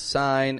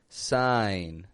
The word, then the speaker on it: sign: s i g n people pronounce sign as if the G is strong it's a silent G sign sign above the line